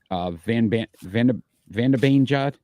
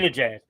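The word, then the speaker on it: Zibanejad: Van de Beanjad. I always say his name wrong. Zabinajad.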